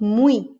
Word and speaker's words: muy: But if it's acting as a vowel, at the end of a word, we've got muy. It's an I.